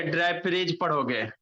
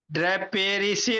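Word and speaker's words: draperies: ड्रेपरीज पढ़ोगे। ड्रेपेरिसी नहीं पढ़ेंगे, जा इसका जा प्रोनाउंसिएशन जा, ड्रेपरीज पढ़ेंगे।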